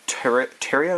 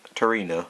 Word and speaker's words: Tarina: I run 2 Tyria, is that how you say it? Tarina, there's an N in there.